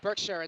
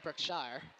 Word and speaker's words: Berkshire: of the woods Chris that's why i pronounced it Berkshire not brookshire oh nothing gets by